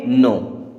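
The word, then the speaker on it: know: के एन ओ डब् अब यहां पर के के बाद में एन आ रहा है यानी कि के साइलेंट होगा तो इसे हम क्या पढ़ेंगे नो क्या पढ़ेंगे नो तीसरा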